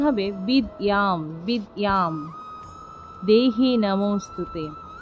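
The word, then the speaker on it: বিদ্যাং: অনুস্বারের শুদ্ধ সংস্কৃত উচ্চারণ হসন্ত যুক্ত মহলে এর উচ্চারণ হবে বিদ্যাম বিদ্যাম দেহি নমস্তুতে তা শিক্ষার্থীরা এতক্ষণ আমরা ক্লাসে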